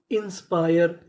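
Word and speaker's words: inspire: आईएस इंस पीआई आर E pier इंस्पायर इंस्पायर इंस्पायर का मतलब होता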